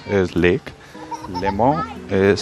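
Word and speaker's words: Léman: Limo is pronounced as L E M A N. Um it's called Lak Limo and uh the important part is that uh as I said this is international border.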